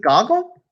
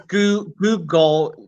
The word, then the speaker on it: googol: Is it Goggle? What's the number called? Well, I mean that term was made up in the 1960s by some mathematician's kid. Yeah, you're right. It's Google, not spelled like Google, but Googol, and that's